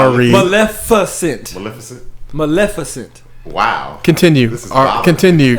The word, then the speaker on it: Maleficent: when mesan got invited why you say it like that what say it again malefant Maleficent Maleficent damn I'm tripping no you're